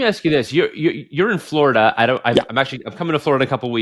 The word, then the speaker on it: Florida: It's not Florida. There's a UH on the end of that instead of an A.